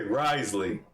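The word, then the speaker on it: Wriothesley: it just like risely like it was pronounced so you don't get it wrong this is how you say his name okay Risley I'm gonna call you rizley because you got that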